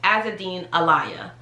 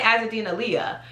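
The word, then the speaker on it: Azzedine Alaïa: how to pronounce it but the proper pronunciation is as a dean elia as a dean elia like you elia because some people want to say azadena leah um because you know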